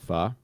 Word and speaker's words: pho: I love pho. What's pho? People call it pho. Oh, but it's actually pronounced pho?